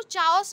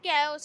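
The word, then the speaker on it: chaos: Like कैओस, ये आपको चाओस लग रहा होगा लेकिन ये कैओस है, इसकी प्रोनाउंसिएशन कैओस होती है।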